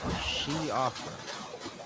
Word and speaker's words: Siofra: Is how you pronounce that. Siofra.